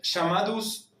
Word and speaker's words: chamados: En portugués esa CH se va a pronunciar como una SH.